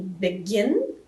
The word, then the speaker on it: begin: Que a sílaba forte está em begin, em gin, então eu sim vou